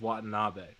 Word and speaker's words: Watanabe: i think we're i think we're on the pronunciation is watanabe so we're going to go you know what